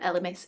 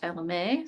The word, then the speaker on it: Elemis: elemis um and yes i've been told that lms is how you pronounce it not lma so thank you for